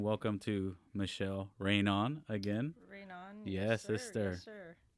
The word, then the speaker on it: Reynon: It's Reynon. not Rage-non, okay?